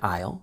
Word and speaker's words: aisle: 20 notice also that the S is silent in Isle so it sounds just like the word I with the letter L at the end I excuse me where